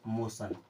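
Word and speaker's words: motion: एन रहेगा ठीक है तब भी टी को पढ़ना है सा की तरह अब टी आई ओ एन दोनों मिल जाएगा तो क्या बन जाएगा सन क्या बन जाएगा सन कुछ एग्जांपल देख लीजिए जैसे एम ओ टी आई ओ एन मो सन टी आई ओ ए यानी कि सन इसे क्या पढ़ेंगे मोशन क्या पढ़ते हैं मोशन एन ए टी आई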